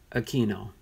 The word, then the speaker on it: Aquino: language so yes No some say Aquino Aquino that is the Hispanic way of saying that name Aquino the two almost sounds like a K when it gets pronounced that way okay at least that's